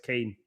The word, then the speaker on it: Kean: But Moyes Keane. Yeah. Although it's spelled different.